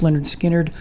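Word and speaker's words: Lynyrd Skynyrd: Next is from the debut album pronounced Leonard Skinnard.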